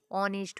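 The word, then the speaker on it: honest: ववर में ए है ऑनेस्ट में अ है नेस्ट नहीं पढ़ेंगे ऑनेस्ट होगा नेक्स्ट की तरफ बढ़ते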